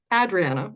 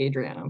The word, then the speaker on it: Adriana: But it's so real, because Canadian, North American pronunciations are usually Adriana, but that's where I'm so unique.